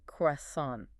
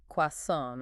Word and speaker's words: croissant: And we learned the dual pronunciations of the croissant, croissant or croissan't.